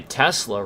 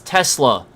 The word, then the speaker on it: Tesla: I mean, that retard can't even say Tesla right. Like, he literally can't even... He's like, Tesla... Talk about fucking stupid. Tesla! It's Tesla.